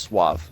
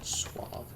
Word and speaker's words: suave: Gambler head I'm good it's actually pronounced Suave Suave and I take it